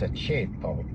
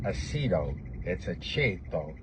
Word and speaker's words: Aceto: was Ace Aceto, but if you're Italian, you know how to say his name right. It's a cheetto. It's not a cho.